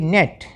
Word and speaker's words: gnat: GNAT, नेट, GNAT को Janet नहीं पढ़ना, ठीक है, या गेनेटी पढ़ना, इसको क्या पढ़ेंगे?